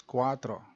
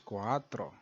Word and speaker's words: cuatro: squat the rule is you pronounce the first a then pronounce the second a without closing your throat as in so qua becomes qua and cuatro becomes cuatro then you as english